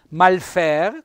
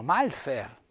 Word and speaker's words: Malfer: pare che della comunità di valle malfer con l'accento vedete tonico sulla e e molti lo leggono malfer devo fare un appunto